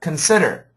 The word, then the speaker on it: consider: The accent goes on the second. Consider.